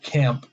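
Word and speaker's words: Caamp: he by a band called camp but it's spelled with two days so C a and B it's like calm you know they're like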